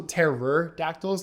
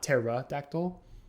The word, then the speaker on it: pterodactyl: And that's also Terror-dactyls, not Pterodactyl, just so you know.